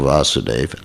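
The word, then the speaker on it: Vāsudeva: chapter viewer means vasudev the original vasudeva vasudev you know with a long a is Krishna vasudev sankrushan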